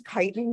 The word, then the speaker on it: chitin: They're covered with, as insects are, chitin, but I thought it was pronounced chitin. It's chitin.